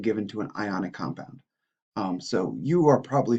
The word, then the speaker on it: anion: charged you'll notice that we kind of don't pronounce the words properly like normal English this is a cation and this is an anion because well because chemistry oh and so the